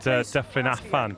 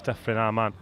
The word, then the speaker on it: Ysgol Dyffryn Aman: I said Dyffryn Afan, but it's Dyffryn Aman.